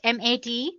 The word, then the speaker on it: MATE: the mate desktop environment let me pronounce it mat a you can call it whatever you want mate or mate desktop environment so as you can